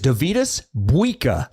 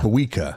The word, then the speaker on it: Dovydas Buika: player, 6'6" Lithuanian guard Dovydas Buika. And yes, that is how you say. I checked with Jake Wallin, who went on his mission to Lithuania. Nice. It is Dovydas Buika, like Bweeka. Buika.